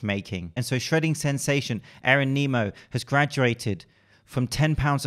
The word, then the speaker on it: Aaron Nimmo: His name is pronounced Aaron Nimmo.